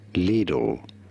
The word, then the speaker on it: Lidl: you could argue that it should be pronounced the German way. It is pronounced as lidle lidle. However, in English, it is generally simply said as little or Okay, that sounded the exact same.